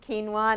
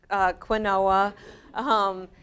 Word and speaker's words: quinoa: It's pronounced quinoa, not quinoa.